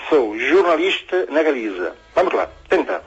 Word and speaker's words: jornalista: O xota do inicio non é como pronunciamos aquí. Sería jornalista. A ver, Kiko. Jornalista. É como en inglés, é general. Ok?